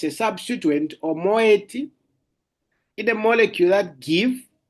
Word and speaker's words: moiety: Um, okay, I wanted to share my screen, but I'll spell it. Moiety.